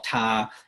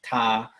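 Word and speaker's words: 他: pronounced exactly the same they're written differently but they're pronounced the same so it's all ta okay and so the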